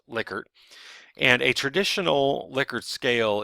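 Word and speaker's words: Likert: see liquer and I know it looks like lyker but it is actually pronounced liquer and a traditional liquor scale is what's shown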